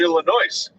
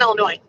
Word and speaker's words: Illinois: but we live in illinois no we don't oh my god don't ever say it again there's an s in it there is no s it's silent but there is an